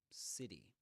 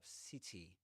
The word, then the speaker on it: city: That that flap T. You'll hear in American English all the time. But in British English, you might hear city. City with this so-called true T. City. City. Not city. City.